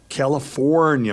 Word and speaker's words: California: California. Make sure you pronounce the R.